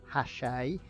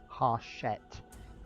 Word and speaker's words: Hachette: thought the publishers were French, and I've been pronouncing the company name Hachette. I have been reliably informed, thank you World of Mike Anderson, that it's actually a South African company and the correct pronunciation is Hachette.